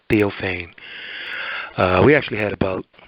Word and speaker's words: Theophane: letter P so it's not deal pain it's theophane uh we actually had about a half hour